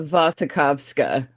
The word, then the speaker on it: Wasikowska: yeah, Uh, yeah, you it's know, a Vasikowska, yeah.